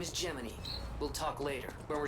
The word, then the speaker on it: Gemini: later when we're safe I guess it's pronounced geminy I mean I literally like talked about that's what the joke is it's it's like the it's the word g Gemini but it pronoun geminy like the